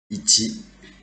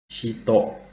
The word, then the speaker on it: 一: The kanjis that we are going to talk about today is about ichi.